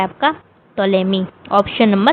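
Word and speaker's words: Ptolemy: अगला सवाल है पिटोलोमी की प्रसिद्ध पुस्तक कौन सी है? Which is the famous book of पेटोलेमी? टोलेमी sorry टोलेमी है। यहां पे पी नहीं होगा। पी साइलेंट हो जाता है।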